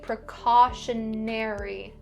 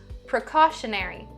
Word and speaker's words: precautionary: We're also going to look at the /e/ sound don't say /æ/ or /ɪ/, say "precautionary", /ne-ri/, "precautionary".